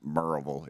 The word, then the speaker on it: Maryville: It's pronounced Maryville if you're from there, but you would pronounce it Maryville, Maryville.